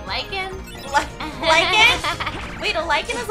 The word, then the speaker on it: lycan: I was saying lichen, L-I-C-H-E-N. And I was saying lichen, L-Y-C-A-N. Lichen! Yes, it's, we were both right. Whoa, the English language is dumb. Why are both pronounced the same?